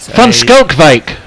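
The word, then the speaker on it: van Schalkwyk: did you um what do you call it fun skull vake perfect perfect oh what a be you've done it phonetically as fun skull that's word I was looking for phonetically shadley skull Vick is going to be bowling Tony you you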